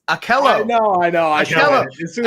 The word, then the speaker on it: Ahkello: It's Ahkello.